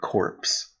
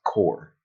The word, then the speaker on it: Corps: Marine corpse cor okay it sounded like he said corpse dead it's it's spelled corpse but it's core brain core sfy [